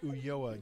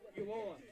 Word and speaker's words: Ulloa: 31 is Alfred Ulloa. Give me a pronunciation on that, Rachel. It looks like Ulloa to me if we're pronouncing the double L like a Y sound.